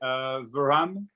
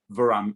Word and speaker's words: Verhamme: So I'm like, okay, I'm Verhamme anyway. But It's yeah, the H has kind of got an R sound to it, huh?